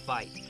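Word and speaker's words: wyd: got their name from an Afrikaans word for why that's pronounced fight a little misunderstanding and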